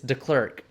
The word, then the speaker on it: Deklerk: before, but if it's pronounced the way it's spelt, it's Deklerk.